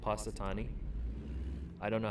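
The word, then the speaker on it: Punxsutawney: place in Pennsylvania called patani I don't know how to spell it there's X in it doesn't sound like there should be but there is patani Phil I think is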